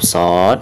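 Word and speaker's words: ص: Maka ketika membacanya itu harus ada pantulan ya. Jadi dibacanya di ujung atau setelah kita membaca panjang huruf shad, maka ujung suaranya harus ada pantulan huruf dal. Contohnya shad, seperti itu ya.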